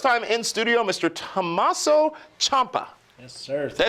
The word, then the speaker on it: Ciampa: Tommaso Ciampa. Yes, sir. Did I say it right? Ciampa. Ciampa. He's the champ. I can spell it right, but I can't say it right.